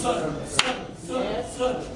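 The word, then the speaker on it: sun: Parce que les deux se prononcent sonne.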